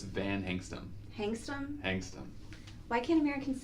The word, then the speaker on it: Van Hengstum: It's if you just read it like it's spelled, you get it right every time. We want to put an R in it.